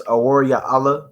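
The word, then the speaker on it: אוריאל: That's Aor Ya'ala, which means the light of God or the light of the Most High.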